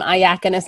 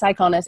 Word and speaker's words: Iconis: tobias um i iconis i always want to call him ayakonus now because my telephone calls you know my phone pronounces his name phonetically but and one of